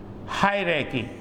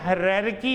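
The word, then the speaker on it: hierarchy: अच्छा इसमें आपने हरकी नहीं बोलना। लग तो ऐसे ही रहा है ना दिल भी कर रहा है कि हरकी लेकिन इसमें ये वाला आर जो है वो साइलेंट है।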